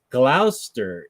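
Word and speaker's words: Gloucester: and Benjamin is from I think it's pronounced Glouster England same as Dr Foster who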